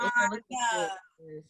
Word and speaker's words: Onna: And I just want to point out that her name is spelled with an O. Don't be out here trying to find her with an A. Well, Onna. Onna. It's like Donna without the D to make it easier for folks.